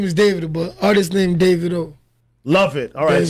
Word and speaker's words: Davido: is David artist named David oh love it alright so you like it pronounced David OH anyway peaking I mean